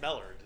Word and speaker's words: Mellard: It's pronounced Mellard.